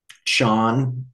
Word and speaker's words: Chan: in different schools um Sean which is how Zen is pronounced in China practitioners will have different